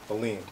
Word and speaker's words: Alleyne: Alleyne.